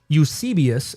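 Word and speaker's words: Eusebius: Um, but there are early external sources uh from something called Ucius. It's spelled EU S E B I U S which is a classic uh ecclesiastical history uh from the early 4th century.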